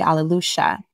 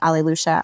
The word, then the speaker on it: Aleluya: Well, instead of Alleluia, because of the accent that Uruguayans and Argentines use, we say Aleluya, because the Ys are pronounced like a sh sound.